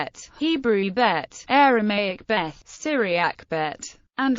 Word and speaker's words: Bet: no do for V this letter is named bet and vet following the modern Israeli Hebrew pronunciation bet and vet in Israel and by most Jews familiar with Hebrew although some non-israeli ashkanazy speakers pronounce it bass and Bas it is also named Beth following the Tiberian Hebrew pronunciation in academic circles in